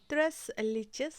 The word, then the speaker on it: Tres Leches: তো এই কেকটির নাম হচ্ছে ত্রেস লিচেস কেক। এটি স্প্যানিশ ভাষা।